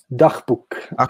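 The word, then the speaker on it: Dagboek: It looks like Dagbook? Dachbuch.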